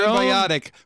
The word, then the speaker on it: symbiotic: Just so remember, you get your symbiotic rhymes with idiotic.